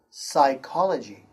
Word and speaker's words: psychology: In this note, the first one is P is silent at the beginning of a few words. The P sound is silent, like this word, psychology.